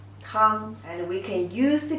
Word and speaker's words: 汤: And the pronunciation is 汤, 汤, 汤.